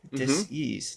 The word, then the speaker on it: Dis-ease: Reason why I said it that way is it's spelled dis I sen e a s e. Little clever word play. Disease disease.